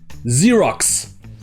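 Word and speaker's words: Xerox: anglais pour dire photocopier ici le premier x se prononce comme un z mais le dernier se prononce comme un x zeerax et enfin comme d'habitude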